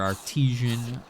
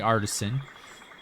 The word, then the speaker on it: artisan: So we got nocturnal, serious, artisan, or artesian, however you want to pronounce it, but it is definitely artisan. At least that's what how it's spelled.